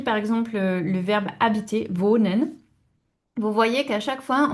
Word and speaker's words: wohne: Donc, première personne, ich wohne. Et attention, on le prononce bien, le e. Hein. C'est pas ich wohne, c'est ich wohne. Hein, le E se prononce, toutes les lettres se prononcent en allemand.